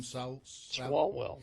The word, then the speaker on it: Swalwell: Swalwell.